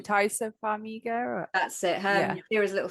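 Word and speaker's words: Taissa Farmiga: Was it France or Italy that tourists, is it Tassia? Oh, I always get a name wrong. Taisa Farmiga.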